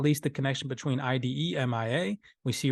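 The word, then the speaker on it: IDEMIA: least on this list idemi ademia ademia hopefully I'm pronouncing that right i-d-e-m-i-a and Standard Chartered Bank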